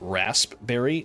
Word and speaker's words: raspberry: Do I pronounce it raspberry? No, cuz I'm not a psychopath. I'm a I'm a normal human being. The P is silent.